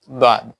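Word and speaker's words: ضاد: এই দাদ শব্দটি, দাঁড়াও, এই দাদ শব্দটিকে নিয়ে বাংলাদেশে অনেক আলিম উলামারা মতানৈক্য করেন যে এটাকে দাদ না পড়ে জাদ পড়ে ফেলেন, একটা অক্ষরকে এটার বিপরীত করে ফেলেন উচ্চারণের সময়, দাদকে জাদ বলেন।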